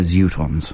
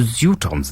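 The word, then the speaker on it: Zutons: Tickets to go and see Russell Brand or the Zootons. Russell. Notice I pronounce it the Zootons. The Zootons, they Which is the correct pronunciation.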